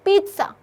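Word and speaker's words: pizza: The correct pronunciation is पिज्जा, it's like पीट सा, ठीक है।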